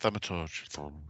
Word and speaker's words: Thaumaturge: Yes, Thaumaturge.